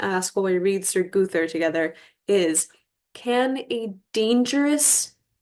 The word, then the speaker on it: Gowther: but I've always said gother I think that's kind of a middle English pronunciation is and I must